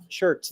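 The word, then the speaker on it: Schertz: Shirts. Yeah, that's that's how you pronounce it. Yeah. Shirts, Texas.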